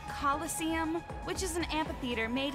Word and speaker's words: coliseum: it right there's no such thing as a killest seam what it's pronounced coliseum which is an amphitheater made in ancient rome